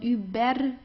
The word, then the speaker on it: über: So here you see you have an R at the end. Right before that you have a vowel. Do you remember what you have to do here? Just pronounce it like an A. Über. Okay? So not über, über or anything. It's über. Okay?